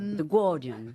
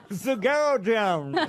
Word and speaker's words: The Guardian: The Guardian. Comment vous dites The Guardian. The Guardian. Normalement, effectivement, on dit pas le U.